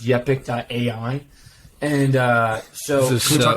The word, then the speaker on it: Yepic: I'm going to assume it's pronounced Yepic.ai.